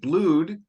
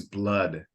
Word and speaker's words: blood: dipped in Blood and I think you said blued two o's normally would be or more open eye but English is irregular in the way this is pronounced is blood okay which is a more closed o so